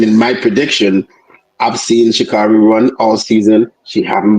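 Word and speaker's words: Sha'Carri: Um, in heat three we had, as she says, her name is pronounced as Shakari Shakari Richardson 11:03, Sherekica Jackson 11:04 and Tori Lewis 1108.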